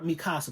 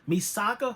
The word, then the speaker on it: Misaka: characters we have um I always want to call her mi casa but it's misaka From a Certain Magical Index